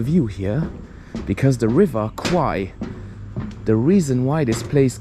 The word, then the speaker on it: Kwai: check out the view here because the river Qui the reason why this place kaburi is famous is right here this is the legendary River Quai or qu as it is pronounced in Thai